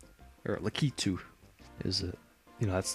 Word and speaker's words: Lakitu: from uh i'm gonna choose uh why not lackatu or lakitu is it you know that's the right pronunciation apparently uh i did say last time